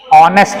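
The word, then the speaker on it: honest: लेकिन जब मैं बोलता हूं इस शब्द को तो आता है ऑनेस्ट, मतलब शुरुआत साउंड की स्वर से है। इसकी स्पेलिंग में जब साउंड आता है तो कहां से आता है, ऑनेस्ट, मतलब ओ बोल रहा हूं, एच तो बोल ही नहीं रहा, तो उसके अकॉर्डिंग लगाऊंगा ना।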